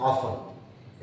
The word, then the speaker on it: often: अच्छा, English pronunciation I mean to से England में या यूरोपियन कंट्रीज में इसको ऑफ्टन ही पढ़ते हैं वो लोग, बट in Indian accent we pronunciate it एज ऑफन।